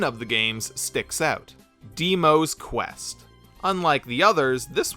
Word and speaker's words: Dimo: Oh, I guess his name is supposed to be pronounced Dimo, not Demo.